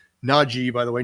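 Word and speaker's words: Najee: clarify how his name is supposed to be pronounced naji by the way not not j so anyway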